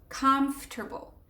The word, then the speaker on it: comfortable: And so the first part is comf, and then table, comfortable.